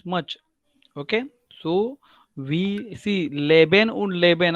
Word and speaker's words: lieben: लिखते समय तो आप बराबर लिखोगे, because once you will write it LEBEN, बट इधर कैसा है LIEBEN. सो लीबेन, लीबेन means to love and leben means to live, right?